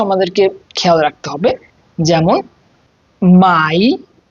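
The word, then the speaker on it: Mai: যেমন মাই যদি কোন শব্দে এ এবং আই একসাথে থাকে তখন ওটাকে আই এর মত উচ্চারণ হয়।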